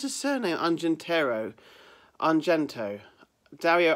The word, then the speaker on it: Argento: It's Dario I can never pronounce his surname. Argento. Dario Argento.